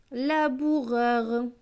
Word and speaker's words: laboureur: L et A, la. B avec OU. OU c'est ou. Donc B et ou, bou. R avec EUR. EUR se prononce heure. Donc R et heure, ça donne reur. Donc ce mot va se lire la bourreur. Laboureur.